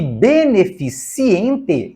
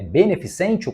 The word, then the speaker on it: beneficente: conforme a norma padrão você sabe que beneficiente está errado é beneficente correto Como você sabe também que não se diz freiada mas freada assim também não é impecílio é empecilho E finalmente não é previlégio é privilégio portanto das palavras que estão